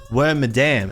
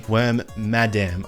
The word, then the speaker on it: Wormadam: So it was Wormadam, not Wormadam, Wormadam, as in madam, you know?